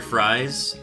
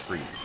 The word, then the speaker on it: Fries: Victor fries or uh pronounced freeze.